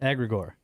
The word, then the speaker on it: egregore: Egregor.